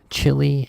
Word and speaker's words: chilly: It sounds like the word chili as in chili pepper. So that would be a different spelling, right? So chili, right? Actually, no, it's the same pronunciation.